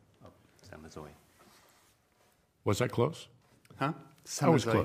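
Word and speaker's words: Samazeuilh: It's Samazeux. Oh, Samazeux.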